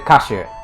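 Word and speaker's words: 火酒: Is that hizake? Or is it kashu?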